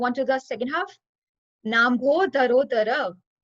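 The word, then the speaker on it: नाम्भोधरोदर: Nambho dharo dhara. It's a little bit complicated, so we'll split it into three parts. Na plus ambodhara plus udara. Nambho dharo dhara.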